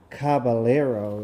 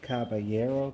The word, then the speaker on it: Caballero: then you cover down Caballero I kept saying Caballero my cousins my cousins kept correcting me it's not Caballero is Caballero Caballero I don't mean